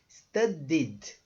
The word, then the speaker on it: studied: que você quiser então study ficou studied não pronuncia o e tá studied só essa é a pronúncia tá então played studied